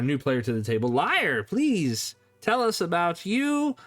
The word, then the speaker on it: LYR3: Hello, my name is Liar. If you are listening in an audio format, that is spelled LYR3.